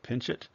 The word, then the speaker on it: Pinchot: The second person that I was referring to was this guy, Gifford Pinchot, sometimes pronounced Pinchot, who was around the same age as Roosevelt, who was from the same part of the country.